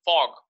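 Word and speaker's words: f∘g: This is how we pronounce it, fog.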